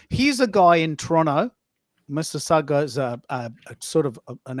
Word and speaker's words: Mississauga: The G is somewhat silent. It's just Mississauga.